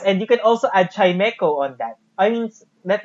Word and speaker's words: Chimecho: Chimecho. Okay. It's Chimecho. Okay. It's chime and echo.